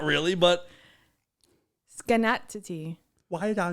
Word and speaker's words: Schenectady: it sounds like it's schenectady but it's not a scan it's connected it's connected say it again it's connected schenectady when you say it